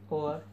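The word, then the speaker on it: hour: वो साइलेंट होता है, जैसे कि और, इसमें एच साइलेंट है, आवाज़ निकलती है ओ की।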